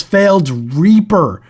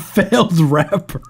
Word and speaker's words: Failed Reaper: This is failed reaper. Reaper, not failed rapper.